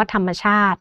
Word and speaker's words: ธรรมชาติ: ระหว่าง คำ นะ คะ อย่าง เช่น คำ ว่า คณิตศาสตร์ ซึ่ง มา จาก คำ ว่า คณิต บวก กับ ศาสตร์ นะ คะ หรือ อย่าง คำ ว่า ธรรมชาติ เนี่ย นะ คะ มา จาก ธรรม บวก กับ ชาติ นะ คะ เวลา เรา อ่าน ออก เสียง ก็ จะ มี เสียง อะ ที่ เชื่อม เสียง อยู่ ระหว่าง คำ ทั้ง 2 คำ นะ คะ เหล่า นี้